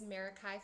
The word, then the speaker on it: Meraki: about this for a while and I was pronouncing it correct it is meraki photography but tell us where where that came